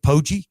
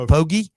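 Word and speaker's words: Poggi: Uh I like uh Michigan at Nebraska also because Biff Poy Mhm. or Pogy, excuse me. Biff Pogy, I think that's how you pronounce it.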